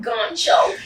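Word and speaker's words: Ghoncho: Okay, then Goncho. The H is silent.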